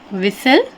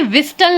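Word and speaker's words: whistle: silent कर देते हैं तो देख लेते हैं विसल अब हम इसे विस्टल नहीं पढ़ते विसल आखरी में क्या आया है एस टी एल टी एल आया है तो हम इस टी को साइलेंट कर देंगे तो इससे रीड करेंगे हम विसल जिसे बोला जाता है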